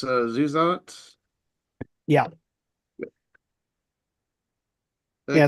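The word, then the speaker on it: Zusatz: Got a actually, long Zeus that, so what's that? got a long keep I know people keep pronouncing it, but it's Zuzat.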